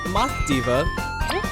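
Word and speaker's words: Mothiva: go with kaboom and my fever is a math Diva which is how the name is pronounced and she is based off a silkworm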